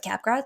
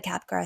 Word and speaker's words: Capgras: g a RS but like in French we don't pronounce the last letter um this condition was